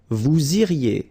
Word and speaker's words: vous iriez: Then, vous iriez. So same thing here, make the liaison. Vous iriez. Remember, when you get this EZ at the end, you get the sound E.